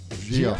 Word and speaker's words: Gia: Gia. I pronounced it right?